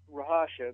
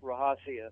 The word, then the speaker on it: Rahasya: name again okay yeah the easy way to do that is Rasha but it's actually pronounced rahasia so whatever uh fits